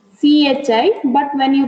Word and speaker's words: chi: Okay, actually it is CHI, but when you pronounce it is chi.